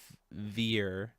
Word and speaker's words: Vier: Her name's pronounced Vier with fear, like fear, but with a softer R, one syllable.